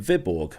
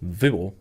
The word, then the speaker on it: Viborg: when I was in Viborg or sorry it's pronounced vior I think I watched